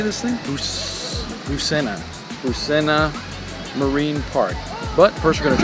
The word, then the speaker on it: Busena: Busena.